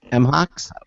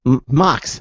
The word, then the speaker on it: MHOX: he is a partner and lead designer for M Hawks I keep pronounce m MOX MOX there you go from MOX MOX yes